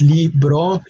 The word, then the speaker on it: libro: or book two syllables libro again it's not only wrong it's leave wrong meaning that it ends